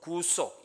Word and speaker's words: 구속: 구속 구원을 믿지 않습니까 이것을 구속 구속 이렇게 발음하면 이렇게 뭐 죄지어서 이렇게 감옥에 가는 같은 구속 구속 이런 느낌이 있잖아요 그죠 그래서 구속 구속 약간 길게 또 발음하기도 합니다 구속은 어터움먼트라고 부릅니다 근데이